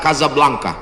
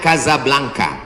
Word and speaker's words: Casablanca: Hasan 2 di kota Kazablanca. Ibu kota Maroko tempat saya kuliah. Nama negaranya Maroko. Ibu kotanya tulisannya Casablanca. Cara bacanya Kazablanca. Kaza artinya rumah. Blanka artinya putih.